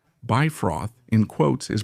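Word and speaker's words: Bifröst: wow, but they said Bifrost is Bifrost. Surprisingly, they're right about that, okay? Because according to modern Icelandic, which, if I'm not mistaken, is the language closest to Old Norse, Bifrost, in quotes, is pronounced like that.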